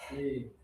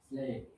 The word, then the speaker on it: slip: At first, he was making the normal mistake, which is high tongue. It's natural for Spanish speakers, Arabic speakers, Japanese speakers, but then he corrected it to slip.